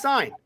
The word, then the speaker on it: Cine: Minnesota Vikings select Lewis Cine. Okay, another safety. You pronounced it wrong. Yeah, I've been told it's pronounced sign.